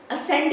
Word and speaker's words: ascend: Ascend नहीं होता है, it is ascend. ठीक है, D is silent over here.